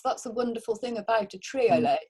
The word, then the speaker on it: triolet: That's the wonderful thing about a triolet. It's spelled Trio, like trio, and then LET at the end, Nicola.